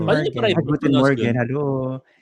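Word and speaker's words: Guten Morgen: Sabi ni Carlos in Germany, Gutenberg Morgan. Tama ba yung Gutenberg pronunciation? Morgan. Guten Paano niyo pa rin Morgan. Guten Morgan.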